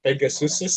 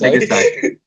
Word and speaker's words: Pegasi: How do you pronounce multiple Pegasus? Is it Pegasuses or Pegasus? Pegasi. Oh really? Oh, Is really? it actually Pegasi? Pegasi.